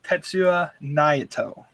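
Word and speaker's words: Tetsuya Naito: Su y a n a i t o tetsu Nao so this dude he does what he at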